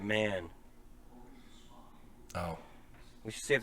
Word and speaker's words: Mahon: before I don't know how's he spelling Mahon m-a-h-o-n INE he probably pronounces it man oh we should see